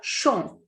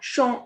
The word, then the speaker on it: champ: Next is le champ. Le champ is field. P is the last consonant, so it is muted here. We will not pronounce it.